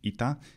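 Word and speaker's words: ήτα: Greek and Byzantine Greek indeed ITA is certainly the best name for it then and its value was just like the modern language by then E before that where its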